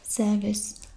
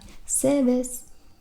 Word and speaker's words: Servus: I'm not really sure if they pronounce the R in this, but they usually like omit R, just like the British English does. So it's kind of like Servus.